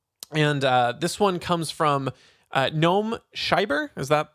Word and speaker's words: Noam Scheiber: And this one comes from Noam Scheiber. Is that how you pronounce that?